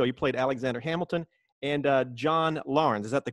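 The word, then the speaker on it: John Laurens: on the show you played Alexander Hamilton and John Lauren's is that the correct pronunciation yeah John Lauren's yeah so I checked it out man Disney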